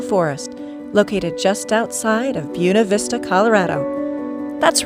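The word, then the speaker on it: Buena Vista: Santa Isabel national forest located just outside of buav Vista Colorado that's right they pronounce it buav Vista that's how they adopted it way back in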